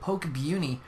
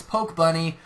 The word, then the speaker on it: Pokebuni: What a weird name, Pokebuni. No, I'm just kidding. It's Pokebunny. I'll say it right.